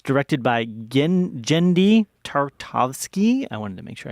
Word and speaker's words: Genndy Tartakovsky: makes a romantic connection it's directed by Ginn genndy tartakovsky I wanted to make sure I pronounced that it's got the voice acting of